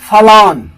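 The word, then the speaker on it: forlorn: जो पहला वर्ड है फलॉन, फलॉन FORLON, जिसका मतलब होता है सैड और लोनली, उदास होना, निराशा हो जाना अकेलापन के कारण। तो फलॉन करेक्ट साउंड है, फॉरलॉन मत पढ़ देना, फलॉन।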